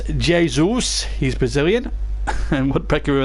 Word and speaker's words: Jesus: as they just play sensibly and and the pronunciation debate goes on rod says it's Jay Zeus he's Brazilian and woodpecker who announced old city